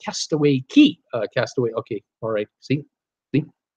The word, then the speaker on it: Castaway Cay: also love Castaway Cay pronounced castaway key castaway okay alright see